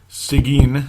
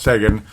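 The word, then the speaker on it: Seguin: oh boy and then sigin sigan Sean I keep saying it wrong but it's Sean and then Neo NE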